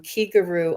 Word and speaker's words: Kiguru: the same syllable as the key in Reiki it means spirit and